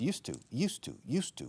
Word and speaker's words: used to: Ahora, estoy utilizando una forma que es used to. Constantemente estáis oyendo used to, como el monasterio de Yuste, pero con U al final, como si fuera el monasterio de Yustu.